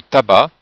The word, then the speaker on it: tabac: Mais attention dans tabac le C ne se prononce pas.